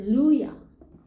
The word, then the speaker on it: Luhya: And it says Luya, a tribe called Luya. It's spelled Luhya.